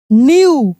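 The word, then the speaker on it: knew: एन ओ सी के को पढ़ knock at his door D O double R door he न्यू के एन E double न्यू के silent है न्यू दैट ही न्यू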